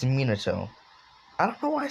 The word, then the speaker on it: Minato: monado i ca i say monado it's minato i don't know why